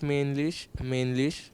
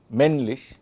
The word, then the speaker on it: männlich: Whenever there is a double consonant, then the vowel will be shortened.